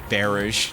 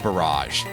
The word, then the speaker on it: Barrage: It'll do a fair chunk as it opens up with a little bit of beerish to start with. Oh, sorry. I'm being told in my earpiece that it's pronounced barrage.